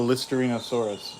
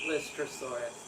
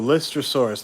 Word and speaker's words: Lystrosaurus: I've been calling it a Listerinosaurus, but... Lystrosaurus. Lystrosaurus, there you go. Lystrosaurus, not Listerinosaurus.